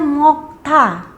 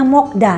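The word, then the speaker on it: 먹다: di sini kata kerjanya mokta mokta Nah di sini huruf matiya ketemu dengan D jadi bacanya ta bukannya da bukannya mokda ya makan Bukannya mokda salah tapi bunyinya adalah mokta dannya kita hilangkan kita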